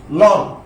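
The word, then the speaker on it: ln: এই যখন log এর বেস e হবে সেটাকে সংক্ষেপে আমরা লন লিখব, লন a। এই লন শব্দটার উচ্চারণ হবে লিন।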